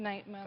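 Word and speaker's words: 'night, Mother: is about the show called, how do you pronounce it, Night Mother? Mm-hmm. Night Mother.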